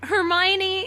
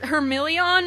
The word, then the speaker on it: Hermione: emotion, of course, and the mispronunciations of things, like Hermione is Hermilion or something, like Hermilion, and how does she say Malfoy?